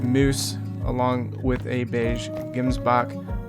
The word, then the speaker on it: gemsbok: This is our melanistic moose, along with a beige gemsbok, or how it's actually pronounced, gemsbok.